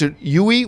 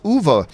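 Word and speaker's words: Uwe: a bowl I mean a lot of people pronounce you eat which I always did was I found it's actually pronounced ovo move a bowl is way worse Paul at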